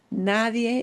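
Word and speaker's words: nadie: But it is spelled N A D I E. So, this is one of those situations where when you pronounce a word, you've got to be really careful when you pronounce this because they're completely different vocab words.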